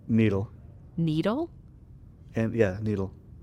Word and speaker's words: Nidal: it it was like I always want to say nidal but it's needle needle the emphasis on the first I apologize I was